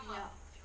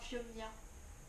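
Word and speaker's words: Phiomia: fioma. Non, Fiomia. Fiomia. C'est chiant à prononcer. Ouais. Avec le i et le o là.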